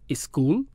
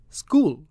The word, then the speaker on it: school: them if they are making an extra sound for example you write up a school and put a big cross through that first sound e it's not a school it's school of course getting pronunciation